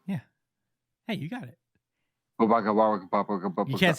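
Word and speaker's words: Bubaigawara: Like, it's not like Bubakawara. Probably said that wrong. Is back. It's definitely just Toga. I don't know how to pronounce his name either. It's Bubai Gawara. Yeah, it's just like that.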